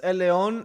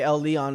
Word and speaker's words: Elleon: problem is is that the that that's it's pronounced Elon Elon it's it's Spanish Elon they just say El Leon because they're obviously not Spanish or Latin American